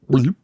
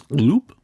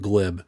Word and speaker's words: Glib: Just a gloop. That's good. It's gloop. So most people call him glib, but he's trying to pronounce it like, no, it's gloop.